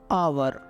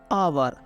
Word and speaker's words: hour: यानी कि अगर एच के तुरंत बाद हमेशा ओ आ रहा है तो हम वहाँ पे एच की साउंड नहीं बोलते हैं, तब वहाँ पे हम